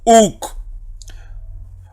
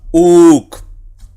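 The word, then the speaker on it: οὐκ: Sí, pero que dijimos que cuando se da esta combinación y, omicron, aquí las dos pasan a ser un solo sonido vocálico que es u. Por eso leo uk. Omicron y, u. Y con la capa que equivale a la letra K. Así que sería uk.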